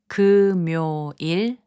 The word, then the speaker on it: 금요일: 금요일, which means Friday, is pronounced as 금요일.